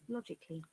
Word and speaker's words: logically: this is the word, and this symbol is called schwa sound, and you Oh. can see it is 1, 2, 3, 4 syllables, and the Y becomes I, semi vowel.